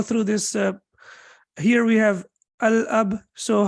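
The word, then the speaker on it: الأب: Here we have al-ab. So how do we pronounce it? Al-ab, right? So lam will be pronounced. Why lam will be pronounced? Because after lam, there is no tashdid.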